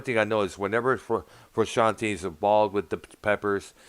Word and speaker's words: Frusciante: Well, one thing I've noticed is that when John Frusciante, that's how his last name is pronounced, Keith.